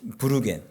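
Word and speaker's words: würgen: 독일어인 브루겐. 독일어는 W자가 비읍 발음이에요.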